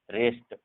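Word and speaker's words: wrist: डब्ल्यू देखो, डब्ल्यू के just बाद अगर आर होता है तो डब्ल्यू साइलेंट हो जाता है। जैसे यहाँ पर डब्ल्यू के बाद जस्ट हम आर अगर देखेंगे तो डब्ल्यू साइलेंट, जैसे wrong, रिस्ट, sorry wrong, राइट, रिस्ट, wrinkle, ठीक है।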